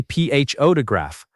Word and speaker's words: photograph: We say ph o odograph with stress on the first part.